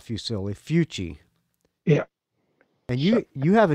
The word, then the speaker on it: Fucci: He came from Italy, and his last name was Fucci. Fucci, not Fusilli. No, F-U-C-C-I.